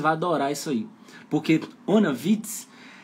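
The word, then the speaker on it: ohne Witz: Onnewitz, pronúncia, ó.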